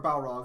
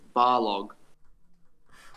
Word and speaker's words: Balrog: even fair like loki you're pronouncing his last name wrong valkyrie or balrog no it's bar log right right manglin was telling me about that